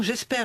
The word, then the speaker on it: GESPER: Et le parc naturel régional du Luberon, ainsi que l'association J'espère. Alors J'espère, c'est gestion de proximité de l'environnement en région. Ça s'écrit GESPER, pas comme j'espère espérer, même si là on peut espérer que ça lutte contre le gaspillage alimentaire.